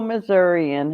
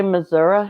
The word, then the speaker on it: Missouri: i really liked it mnc family homestead fellow missourian hello it's missouri if you don't say missouri here they know you're ferner that's for sure